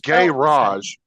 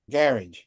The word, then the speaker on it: garage: differently that's all no they're put emphasis on the the first syllable instead of the second garage well that's like you'll